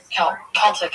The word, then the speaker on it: Celtic: Is it Celtic or Celtic? Celtic is the right way to say it.